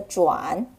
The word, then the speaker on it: 转: The 转 could also pronounce as 转. Fourth tone. The third tone, 转, mostly refers to turning the direction. As for the fourth tone, 转, mostly it refers to spinning around.